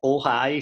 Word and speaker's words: Ojai: Man, my pronunciation is always no, it's not Hawaii. And it's not Ohio, which is the other one that people think I'm saying. Is Ojai spelled O-J.